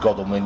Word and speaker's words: Godalming: Now, I know it's pronounced Godalming because the wife told me, because she was stationed there during the war.